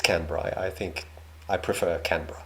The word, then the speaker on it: Canberra: capital of this territory and the entire country, Canberra. I will never forgive myself for getting totally... Yeah, in the previous video, he pronounced it Canberra, which I found very weird, because I've always said Canberra. It's Canberra.